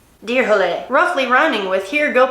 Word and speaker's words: Dyrhólaey: Okay, it's pronounced Dyrhólaey. Dyrhólaey.